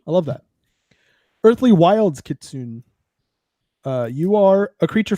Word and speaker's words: kitsune: wind could soon uh kitsune they pronounce the e so i'm just trying